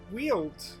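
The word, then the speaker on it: Weald: Ooh, we could go to the Wield, I'm told it's pronounced.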